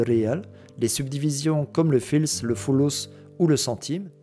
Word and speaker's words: fals: l'Afrique du Nord et le mot false est aujourd'hui prononcé fils et c'est une subdivision